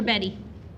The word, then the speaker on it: Bet: panel 234 234 did you say it's bet or Betty it's bet pronounced bet thank you you bet